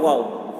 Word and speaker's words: واو: بنا ہے، واو الف واو. واو، دیکھیے یہ صحیح تلفظ ہے. کچھ لوگ وا بولتے ہیں، وا، تو وا یہ صحیح تلفظ نہیں ہے.